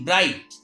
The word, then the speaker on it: bright: If at the last of any word GH or GHT is found, in that condition GH is silent.